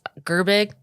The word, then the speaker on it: Gerbig: And yeah, my last name is pronounced Gerbig, like G and big.